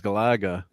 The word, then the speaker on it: Galaga: And says, "Yeah, Gala Gala. Gala."